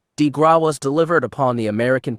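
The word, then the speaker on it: grâce: Bank The Killing below the coup de grace pronounced DeGraw was delivered upon the American people by Franklin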